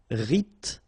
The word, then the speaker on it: rythmique: Remember, Y pronounced like I and then H doesn't exist. Rythmique.